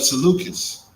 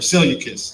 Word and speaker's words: Seleucus: Is the son of Seleucus or Seleucus, depending on how you want to pronounce it, right?